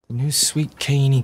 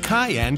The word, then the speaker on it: cayenne: in Sylvania Ohio Canaan cajun Feliz sandwich that sounds good there's no way you're saying that correctly ket so you say it right if that's how you pronounce it I'll buy you lunch hi would you like